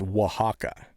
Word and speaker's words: Oaxaca: looks like Oaxaca style hot sauce, and it's Oaxaca. And I had Rhett Grizzly Heat Griffin, who does reviews. He was the one that knew that. He had somebody that knew that word was Oaxaca, and so Yeah.